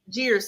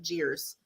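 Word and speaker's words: Geer: spell for you guys it is called gears but it's not spelled like that like g-e-r jeers scholarship i'm going to say it's kind of jeers j-e-e-r no g g-e-e-r yes interesting hang on like richard gere like that yeah i'm here oh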